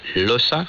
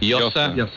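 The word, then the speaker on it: Llosa: Uh, we heard from the giant of Latin American literature, novelist Mario Vargas Loa. Yasa. Yosa.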